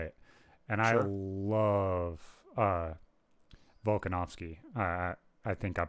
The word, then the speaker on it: Volkanovski: love Volkanovski. I think I'm pronouncing his name right.